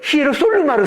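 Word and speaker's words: Ἱεροσόλυμα: 그래서 히에루살렘을 발음하는데 북쪽은 방언, 사투리를 쓰는 거예요. 그래서 히에루솔루마를 써요.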